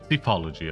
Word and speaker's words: psephology: Psephology, okay, it's like with a P, so it's throwing me the silent P.